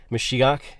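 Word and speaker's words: מָשִׁיחַ: so if you look at Strong's 48.99 meshia mashiach is how it's pronounced um it just means anointed when we've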